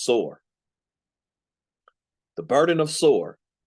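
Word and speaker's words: צור: pronounce it there, but Hebraically it's just sore.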